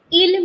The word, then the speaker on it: ils: And then we have ILS, which is pronounced as il. S remains silent.